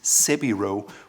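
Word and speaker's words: 背広: And as a side note, the Japanese word for suit is sebiro, which is their pronunciation of Savile Row.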